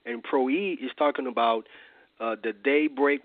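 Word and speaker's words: πρωΐ: is the Greek word PR WI which is pronounced pro e and pro e is talking about the daybreak watch which is the fourth watch of the night which is from 3:00 a.m.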